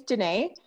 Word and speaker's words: Dené: for a moment oh sure my name is janae you were saying it right thanks okay i'm